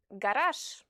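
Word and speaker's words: гараж: The letter j, which is a voiced consonant, is pronounced sh if it's the last letter of a word. Like in the words massage, Paris, and garage, for example.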